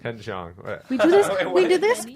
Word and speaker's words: Ken Jeong: It's Ken Jeong. Ken Jeong.